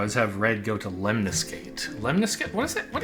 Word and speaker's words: lemniscate: Okay, I don't really Lemniscate. Lemniscate. Emphasis on the second syllable.